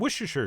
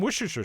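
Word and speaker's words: Worcestershire: a couple teaspoons of wierer sauce which I've been told I could just pronounce Worcester sauce which sounds a little too easy there must be a catch but anyway we'll do some wierer sauce followed by some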